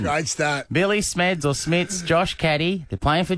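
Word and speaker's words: Smedts: So, Not On This Day in 2013, Geelong players Billy Smeds and Josh Caddy, who went on to play for Richmond in Premiership and recently retired. It's Billy Smits, by the way.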